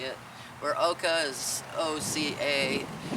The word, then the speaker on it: Oca: Ugo this is how you say it where Oka is OCA it's oxa tuberos it's kind of